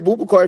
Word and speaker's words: Boubacar: BOUBACAR, Yeah, you can call me BOUBACAR if you know, or, or Booba, or and you pronounce the last name again, how?